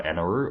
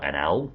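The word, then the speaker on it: Enel: I've never really spoken about him on this channel, but I'm a sucker for Enaru, or NL, depending on your pronunciation of it.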